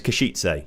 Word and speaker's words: Košice: The E at the end of Kashitse. Oh, Kashitse is not silent. So it's Kashitse.